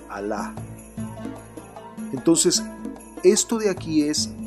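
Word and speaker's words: الله: y esta es gay por lo tanto se pronuncia a la entonces esto de aquí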